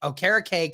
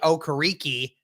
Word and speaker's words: Okereke: because, we had Bobby Okereke come on, and he said last offseason, people have been saying his name wrong all like his professional career. We used to say Okereke, but it's actually Okereke.